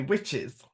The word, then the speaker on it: Wicce: And Wicce was pronounced witche, and it meant a female witch.